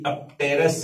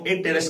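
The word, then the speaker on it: apterous: Is include in द अपटेरस ए टेरस, इसे हम यहां ए टेरस के रूप में बोलते हैं, पी साइलेंट रहता है।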